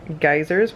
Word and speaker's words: Geysir: Head into some geysers, which are actually pronounced geyser here, and a waterfall.